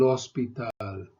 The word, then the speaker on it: hospital: El hospital, el hospital. Remember the H is silent in Spanish always.